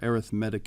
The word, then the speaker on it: arithmetic: So that's how we pronounce that word right there, arithmetic in this case. It's an adjective.